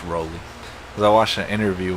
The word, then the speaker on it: Rowley: I think he said he pronounces it Rowley.